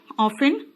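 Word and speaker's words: often: जैसे कि हमेशा अक्सर ऑफेन इसमें ती साइलेंट होता है बेटा ऑलरेडी जैसे मैं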